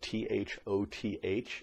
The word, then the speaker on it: Thoth: years ago named Thoth now that spelled at th o th but it is pronounced Thoth master teacher Thoth is his full title and